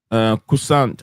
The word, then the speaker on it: Korssund: Andrew Kusant. Andrew Kusant. How do you spell it? ANDR. Okay, the Andrews, so Kusant will be KORSSUND. K as in Kevin.